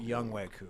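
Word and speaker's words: Younghoe Koo: Who I've learned I was saying his name wrong on Is that Sunday. Song Ho Koo or Young Wei. Young Wei Koo?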